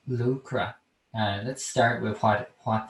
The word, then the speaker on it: Luachra: mountain and uh lucra is is russia's uh pronounced lucra lucra and sleeve lupra then put it together it